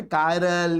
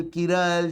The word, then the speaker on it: chiral: कायरल, किरल, चिरल, अलग अलग pronounce करते हैं ना लोग इसको। ठीक है, तो जो भी है सब कायरल।